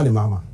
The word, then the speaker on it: Mahama: Now hell must break loose because it's John Mama and NDC.